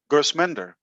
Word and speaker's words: Gersminder: Tell me the exact pronunciation. I people they call you Gersminder, they call you Gershminder. What is the right name? Tell me that, and I never forget it. Gersminder. I say it better than the Indian.